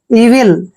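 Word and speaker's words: evil: वी आई एल देखिए ई का उच्चारण हम ई कर रहे हैं ी को हम व लिखते हैं और आई को छोटी की मात्रा पढ़ते हैं और एल का उच्चारण ले करते हैं इविल इविल क्या होता है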